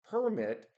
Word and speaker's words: permit: So we have seen permit as a verb. However, permit the pronunciation permit is a noun.